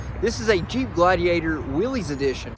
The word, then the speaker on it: Willys: trim level available and a lot of people are going to say in the comments that you're supposed to pronounce as Willis that may be true but for the sake of this video I'm just going to call it Willy's because that's what I've called it for many years in the past and